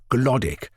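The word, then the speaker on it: Glodwick: The area of Oldm we lived in was and still is called Glaudwick, pronounced Glaudic, and our abode was a tiny little two up, two down that was one of thousands around the area.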